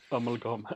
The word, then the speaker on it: amalgam: amalgam yeah and uh which I believe you pronounce uh in a more Swedish way amalgam is that how you would say it amalgam amalgum there you go amalgum I listen I do